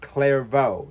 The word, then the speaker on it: Clairvaux: brother Bernard is sent to the city of clairo the one word I can get pronounced correctly where he is to establish a